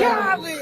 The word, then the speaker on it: Khaled: They also beat out DJ Khaled, or Khalid, or how do you pronounce that properly? DJ Khaled.